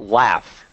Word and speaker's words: laugh: Yeah, but it's spelled G-H, but it's pronounced F, so it's the T sound.